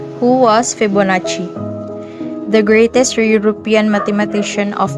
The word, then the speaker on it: Fibonacci: Leonardo of Pisa is now known as Fibonacci, pronounced Fibonacci, short for Filius Bonacci.